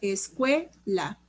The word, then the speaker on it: escuela: Escuela. Escuela. Cue es la sílaba tónica, no lleva tilde porque termina en vocal y eso es un